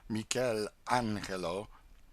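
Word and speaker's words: Michelangelo: In this same library we saw some drawings by Michael Angelo, these Italians call him Michel Angelo, and Leonardo da Vinci.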